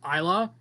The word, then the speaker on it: Isla: For first, I'm pretty sure it's pronounced Isla.